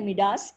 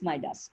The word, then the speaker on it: Midas: Most people say Midas. It is pronounced as Midas.